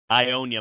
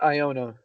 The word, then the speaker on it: Iona: he's gonna beat alabama ionia moves on all right i know we talked about uh this but i believe it's iona like i think that's how it's pronounced iona i know you've said